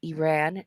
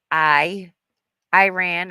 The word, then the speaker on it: Iran: two prophecies coincide and they are pronounced Iraq and Iran not I I ran or IRA yeah almost unnoticed by the